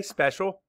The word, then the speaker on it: special: Say special. Map the sounds. S-p-e-s-h-o-l. Special. Spell it. S-p-e-c-i-a-l.